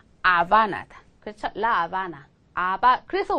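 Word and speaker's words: Habana: 다음에 나오는 건 말이죠 스페인에서 무금이에요 발음이 나지 않아요 보세요 아는 동네 이름이죠 그렇죠 라아바나예요 아바나 그런데 왜 이게 영어에서 미국 사람들은 이거 하바나 이렇게 읽잖아요 이게 이제 쿠바의 수도인데 하바나 그렇지만 스페인어로 하바나 아니고 뭐다 아바나다 라바나 라바 그래서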